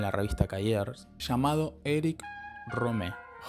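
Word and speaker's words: Rohmer: revista Cers llamado Eric Romé. Home sería como la pronunciación y con una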